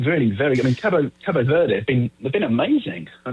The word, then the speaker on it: Cabo Verde: So I think the official BBC line is we're going with Cape Verde, but I think if you're there, Cape it is Cabo. I think Cabo is right, Cabo Verde or Cabo so Phil Verde.